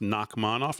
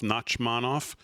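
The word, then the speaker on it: Nachmanoff: Knockmanov, NAC, M- FF, I guess that's pronounced Nakmanov, Nachmanov.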